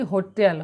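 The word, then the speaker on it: hotel: এখানে কিন্তু এইচের সাউন্ড আমরা পাচ্ছি, এখানে কিন্তু এইচের আমরা সাউন্ড পাচ্ছি, এটা কিন্তু এখানে মিউট নয় বা সাইলেন্ট নয়। আর এইচ হচ্ছে কি হোটেল, হ, হয়কার আসছে, ভাঙলে হবে হ প্লাস ওকার।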